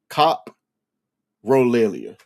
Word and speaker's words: coprolalia: Cop relia. That's how it's pronounced right there.